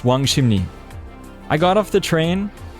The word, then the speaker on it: Wangsimni: I just knew that I was going to Wangsimni Station, which I found out later is pronounced Wangsimni.